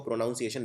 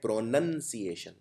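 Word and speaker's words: pronunciation: हैं सिएन प्रोनाउंस एशन लेकिन इसको प्रोनाउंस एशन नहीं बोलते इसको बोलते हैं प्रोनंसिएशन इसका प्रोनाउन यानी सर्वनाम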